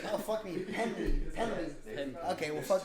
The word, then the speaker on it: Pendley: Anston Kelly and Josh Pendley. Damn. You put so much emphasis on the second E. Pendley? Yeah. Why not? And There's- you're adding an extra E as well.